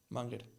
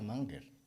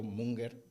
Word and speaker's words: Munger: el Charlie mugler Charlie manguel ese ah que se pronuncia manguer Bueno creo que sí claro claro como claro como Yo estudié alemán yo pensé pienso si cuando le veo munger Leo munger creo que Seguro seguro y